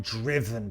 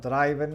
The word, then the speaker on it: driven: The car has been driven by Dave. Fíjate en la pronunciación. It's not driven, it's driven. La D y la R al principio suave. Driven. Y luego la V, por supuesto, bien marcada ahí.